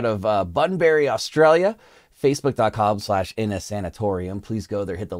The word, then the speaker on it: Innasanatorium: in a sanitarium sanatorium I think I said that correct in a in a sanatorium is how you pronounce it this one's called this